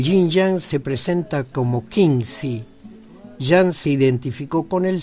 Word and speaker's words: Xingzi: En el programa de hoy escucharemos Yin y Yang como sustancia concreta Qingzi, que se escribe Xingzi.